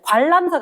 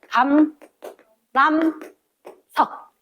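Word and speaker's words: 감람석: 발음 조심해야 돼. 관람석 아니야. 영어 관람석 아니고 감, 람, 석.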